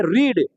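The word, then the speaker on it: read: इसको क्या पढ़ेंगे? रीड, लेकिन बोलेंगे दूसरा रूप में क्या चीज? रेड। तीसरा रूप में क्या बोलेंगे? रेड।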